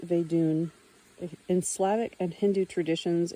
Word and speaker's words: Vedun: Footnote pronounced Vedun.